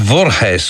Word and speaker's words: Voorhees: It's from uh well, I suppose it must be pronounced Vorhees or something like that. I mean, it's V R Hes, which sounds Dutch, although I suspect the